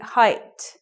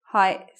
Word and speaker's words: height: expectations, you could say, because the other words related to it, width, length, have the sound, width, length. This one, spelt the same way, doesn't have the same sound. So it should be height, not height. A lot of people say height. Wrong, right, height, with a T.